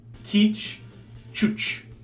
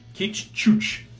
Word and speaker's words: Qij Chuch: surprised but it's pronounced teach couch teach couch I believe that is Klingon yeah yeah if those